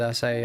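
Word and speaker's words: açaí: Yeah, I'm very familiar with acai actually.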